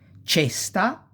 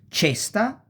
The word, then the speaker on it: cesta: So, cesta, ceci, cerbiatto, cesoie, cento, ce. You pronounce like chest.